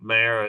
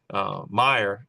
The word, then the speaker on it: Meyer: Yeah, and Dr. Mayer is Meyer, Jorg Meyer from Oh, did I say it? Okay, yeah, I uh, probably said the Jorg name wrong. Meyer. Yeah, Meyer. he is he knows his bees.